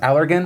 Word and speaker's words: Allergan: Also, a quick update, I've just been informed it's pronounced Allergan.